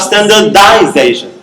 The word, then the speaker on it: standardization: Standardize, and then you have standardization. The stress changes from the initial syllable to the middle, okay?